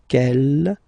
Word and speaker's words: quelle: Quel here, feminine singular, will become quelle with the S, feminine plural. And the good news is that you will pronounce them the same way. Alright, so quel, quel, quel, and quel. Okay, remember that in some